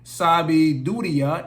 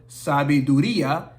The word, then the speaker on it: sabida: done many many times you say sabiya instead of sabida then you say to